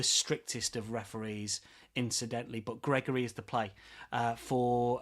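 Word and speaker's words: Gregore: That is Gregory spelled Gregor if you like, but pronounced Gregory with an E uh on the end.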